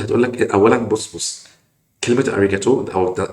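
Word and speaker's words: ありがとう: اللي بتنطق انجليزي غلط كلمه اريجاتو او اريجاتو جوزايمس في اللغه اليابانيه معناها شكرا جزيلا ما اسمهاش اوريجو ولا اسمها باي باي اوريجو تو خالص فبنعدل عليك اهو عشان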